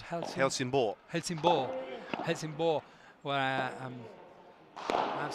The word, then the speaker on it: Helsingborg: How do you pronounce Helsingborg?